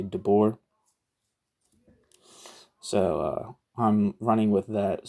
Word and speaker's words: Debord: Like you don't say the D at the end of Debord, you just say Debord.